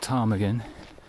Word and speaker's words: ptarmigan: And no, it's not ptarmigan, because that begins with a silent P.